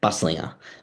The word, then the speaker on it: Buslinger: Buslinger, I think that's what I said. Buslinger, that's how it's pronounced.